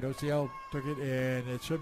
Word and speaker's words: Ociel: I'm not sorry, not Ozil, Ociel. Is that Ociel? How do you pronounce it? Ociel.